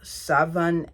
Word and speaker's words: Scheveningen: authorities and taken to the federal prison of Scheveningen and then Vought. Okay, I know I pronounced that wrong.